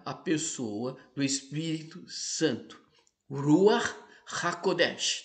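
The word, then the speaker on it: רוח הקודש: Ruach HaKodesh. Talvez não seja essa a pronúncia perfeita, obviamente, mas é mais ou menos assim que se pronuncia.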